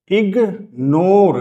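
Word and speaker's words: ignore: तो कुछ शब्दों में जी और एन दोनों सुनाई देते हैं। यानी जब हम प्रोनाउंस करेंगे तो वहां पे जी और एन दोनों प्रोनाउंस होंगे। Like सिगनेट एस आई जी एन ई टी सिगनेट दोनों प्रोनाउंस हो रहे हैं। मैग नेट दोनों सुनाई दे रहे हैं। इगनोर दोनों सुनाई दे रहे हैं। इगनाइट दोनों लेटर सुनाई दे रहे हैं।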